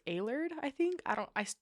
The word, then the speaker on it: Allard: have said that wrong it's a-l-l-a-r-d so i said a lard and it's alert i think i don't